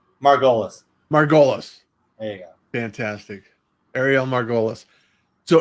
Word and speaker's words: Margolis: it I love it so now the correct pronunciation of your last name Margolis Margolis hey fantastic Arielle Margolis so Ariel thank you